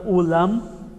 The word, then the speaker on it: ulam: da da palavra irmãos o aprender a pronuncia do n e do m e do n no final é de suma importância porque uma pronúncia pode significar uma outra coisa por exemplo a palavra Vou colocar aqui embaixo Depois apago ó EAM a palavra ulan significa chuva e a palavra ulam significa carne sim então quando a letra